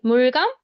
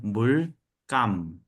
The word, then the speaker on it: 물감: We have paint, mulgam, and paint, like sir said, for house painting or like bigger paint, bigger buckets of paint. And then the 물감 pronunciation in Korea, written 물감 but pronounced 물감.